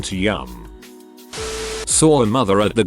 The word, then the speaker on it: Liam: doesn't sound so bad until you hear the pronunciation yum like will yum they called their child